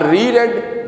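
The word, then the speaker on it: read: रेड the type note अब रेड ये past infinite का सेंटेंस है स्पेलिंग उसके सेम रहेंगे लेकिन इसकी प्रोनंसिएशन डिफरेंट हो जाएगी उसने लिखे हुए उस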